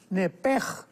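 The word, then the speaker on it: נפש: Entonces, la pronunciación hebrea es nepej.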